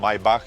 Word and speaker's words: Maybach: First I want to mention the name Maybach pronounced in German.